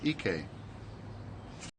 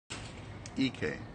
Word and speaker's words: Ike: The first one is Ike. Ike. I-K-E.